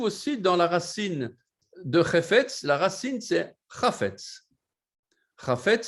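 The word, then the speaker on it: חפץ: Chefetz. Il faut bien prononcer le chet au début. Ce n'est pas hefetz ou hefetz, non, c'est chefetz.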